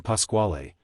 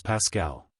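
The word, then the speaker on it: Pasquale: said at a rehearsal Don Pasqual in spite of his maintaining that the proper pronunciation was Pascal result I was ordered on penalty of a fine to pronounce the word in his way it was immaterial to him he said how the rest of the world pronounced the word at ex scoping it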